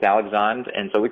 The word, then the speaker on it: Alexandre: Spelled like Alexander, but it's Alexandre.